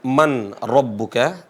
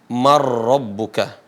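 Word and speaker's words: مِن رَّبِّكَ: masuk ke huruf ro cara bacanya bukan Man rbuka tapi dibaca apa marbuka ya dan Itu adalah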